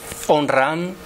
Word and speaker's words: Omraam: Y ahí tenéis Onram, en realidad son dos palabras: Om, la célebre frase de los mantras, y Ram, que en francés se pronuncia con dos as, ¿no?